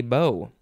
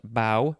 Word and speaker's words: bow: stringed instrument with a bow and finally we have the fifth form but this one is pronounced bow not bo uh don't this is